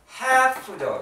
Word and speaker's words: half: half죠. 여기 L이 묵음이잖아요.